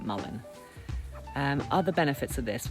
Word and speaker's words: mullein: things to clarify is how you actually pronounce this now I went online and looked at tons of videos and people were saying Malian and malign but apparently you do actually call it Mullen um other benefits of